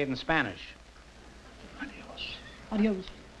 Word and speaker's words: adiós: Adios. Adios. No, adios. Adios is right.